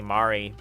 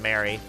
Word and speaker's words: Mari: Like a friend showed me a mod called Rainy Mary or Rainy Mari cuz apparently that's how her name is supposed to be pronounced and I keep saying Mary.